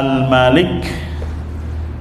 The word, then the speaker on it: الملك: Sekarang kita masuk nama Al-Malik, pendek bacanya Al-Malik atau Al-Maliku. Memang ada beberapa riwayat bacaan dibacanya panjang, Malik.